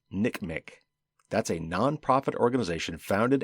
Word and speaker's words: NCMEC: another acronym to know ncmec or the national center for missing and exploited children often pronounced nick mc that's a non-profit organization